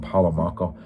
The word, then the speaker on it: Paolo Malco: And again, Katrina McCall, who's in all three of those films, and Paolo Malco, that's how you say it.